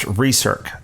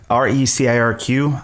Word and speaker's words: RecirQ: To go through, my company is pronounced RecirQ, RecirQ, short for recirculate, which is an industry